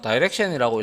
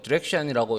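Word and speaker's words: direction: 그래서 첫 번째로 디렉션에서 다이렉션이라고 읽는 사람들도 있고 디렉션이라고 읽는 사람들도 있고요.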